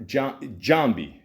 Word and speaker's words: Jambi: Jambi spoke Jambi. There you go. You got to say it like that. It just sounds better.